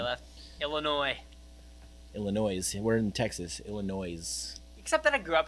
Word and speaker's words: Illinois: We're in Texas, Illinois. Except that I grew up in the Midwest, so I know how to pronounce it the right way.